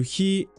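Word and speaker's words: χι: He is what you commonly know as X. And following the same principle as vita, he doesn't make an X sound, but a softer one. He, as in heri, or in horo.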